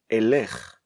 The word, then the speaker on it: אלך: When I want to say I will go, I should never, under any circumstances, say Ani Yelekh. I should always say Ani Elech.